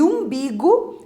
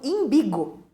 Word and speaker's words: umbigo: lá no reino a e umbigo erradamente para anunciado como imbigo Então são alguns exemplos